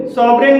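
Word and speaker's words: sovereign: भी जी साइलेंट है सोवन सोवन में भी जी के बाद एन है और यहां पर भी जी साइलेंट है तो दोस्तों इस तरह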